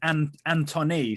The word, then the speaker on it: Antonee: According to Sky, it is Antony, spelled like Antonee, Antony.